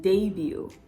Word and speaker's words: debut: silent at the end it's also silent in debut the very first or